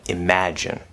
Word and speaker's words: imagine: down i can only and then imagine imagine so here we're stressed on the second syllable of three syllables imagine so you can already hear that in the word right the two on the